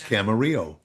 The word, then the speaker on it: Camarillo: Camarillo, California, again, is a Mexican name, and generally you drop when it's l l o, it you you drop it. It becomes Camarillo.